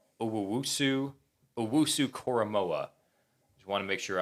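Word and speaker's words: Jeremiah Owusu-Koramoah: So to get the perfect pronunciation, Owusu Koromoa.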